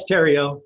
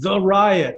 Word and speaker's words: Theriot: i got it right cajun french from way back provincial french you know the um the h is silent but people i mean